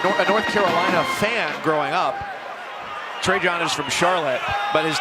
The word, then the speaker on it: Trajan: His name is pronounced Trajan, but he's named for the former Duke basketball player Trajan Langdon. His dad is a North Carolina fan growing up. Trajan is from Charlotte, but his dad just said